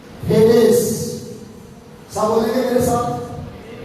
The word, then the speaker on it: Hades: आप इसको कुछ हेडेस पढ़ते हैं, कुछ हिडेस पढ़ते हैं, मतलब कई तरह के इसको प्रोनाउंस जो है वो किया जाता है, लेकिन मैं ग्रीक वर्ड बता रहा हूँ हेडेस।